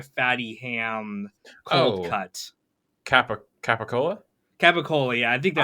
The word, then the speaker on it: capicola: Guido pronunciation of, like, I think it's capicola. Is like how it's written. It's not written gabagool, but the way that Italians in America kind of pronounce things, they pronounce it with like a G sound.